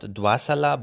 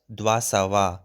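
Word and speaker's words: دوه سوه: So 200, we said that sal is 100, but 200 is not dwasala but dwasawa. So again it changes.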